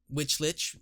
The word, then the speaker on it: lich: spawned the Twilight Lich, which lich, it rhymes, is a problem because according to Grim, the lich doesn't despawn until someone kills it.